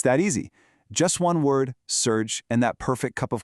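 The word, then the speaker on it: սուրճ: Pronounced simply surge. See, it's that easy. Just one word, surge, and that perfect cup of coffee is on its way.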